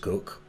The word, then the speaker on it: Coke: in english case law sir edward cook spelt coke interestingly but pronounced cook dr bonham's case of